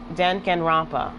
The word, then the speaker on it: Danganronpa: say this game um this game is pronounced dank and rampa that's how you say it dancing rompa too goodbye